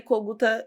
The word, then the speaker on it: Kogúta: Coguta não é difícil de achar. Coguta é o sobrenome do meu ex-marido, é ucraniano, né? Era Kogut, aí no Brasil virou Coguta, porque era mais fácil a pronúncia.